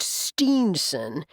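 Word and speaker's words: Stinson: Though it's pronounced Steenson, it's actually spelled S-T-I-N, not S-T-E-E.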